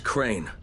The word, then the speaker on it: Crane: No, my name's Crane. Crane? Crane rhymes with train, and brain, and sane, and grain, and rain, and plane, and the other kind of plane, and...